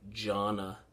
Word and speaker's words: jhana: the suttas is this thing called jhana uh that's spelled j h a n a gianna and there are four jhanas and what the